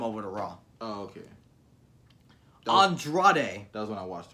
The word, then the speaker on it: Andrade: Andrade. Nobody's gonna get behind Andrade. Is that actually how his name's pronounced?